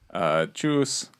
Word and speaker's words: Tschüss: Tschüss.